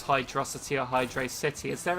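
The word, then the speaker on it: Hydrocity: it must be hydrosity if it was Hydro City then it would be a space in between wouldn't there that's why it's a massive thing on how it's pronounced say if there's no space then it should be hydrosity Hydro velocity yeah CU you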